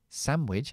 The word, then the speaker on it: sandwich: bacon Had a bacon sandwich sandwich está no se pronuncia sandwich De hecho no es que es que es muda sandwich sandwich we Had